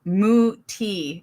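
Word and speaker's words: Mutti: Moo T is how we pronounce it.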